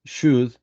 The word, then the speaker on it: should: you pronounce these words should and could and why is similar because we don't pronounce the letter L we don't pronounce and